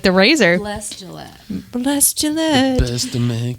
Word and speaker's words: Gillette: The next one is by Bless Gillette, Like the razor? like the razor. Bless Gillette.